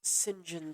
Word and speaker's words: St John: race horse owner uh named James singen SMI and singen is spelled St John O yeah well dah